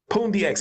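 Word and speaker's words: Pundi X: involved with Pandya at Pune X LEM I always say it wrong poon DX how did you get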